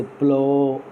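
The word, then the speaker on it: plough: बाद में जैसे प्लो है, PLOU GH, तो यहाँ पर जी एच साइलेंट हो जाता है।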